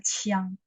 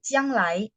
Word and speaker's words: 将: Tapi kalau ketemu judulnya begini, teman-teman harus baca Chiang, 不是江，是枪 Q ya, 将进酒. Nah, kalau Jiang Lai begini bacanya J, Jiang Lai.